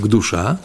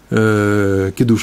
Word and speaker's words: Кидуш: У нас там есть написано «к душа». «К душа» тут написано. «Кидуш» мы говорим.